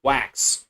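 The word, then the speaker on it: Wachs: So with leelolis coming up was wax not wax wax w a c hs pronounced like wax w ax.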